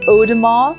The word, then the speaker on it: Audemars Piguet: Now, AU is O. So when you see, for example, coffee goes café au lait, that's AU, okay? The pronunciation is O. So Audemars and then Piguet.